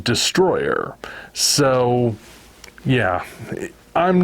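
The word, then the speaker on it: Destoroyah: name for example is spelled destoroya but it's pronounced Destroyer so yeah I'm not sure what we're gonna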